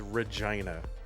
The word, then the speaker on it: Regina: The name of the place is Regina and it's pronounced like that which is just, you know, I'm 12 years old so I think words are funny.